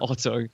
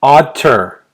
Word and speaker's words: Otter: Otter. Not Otto. How do you spell that? Like the animal. Like otter.